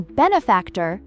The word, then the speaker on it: benefactor: For example, the stress in benefactor is on the first syllable.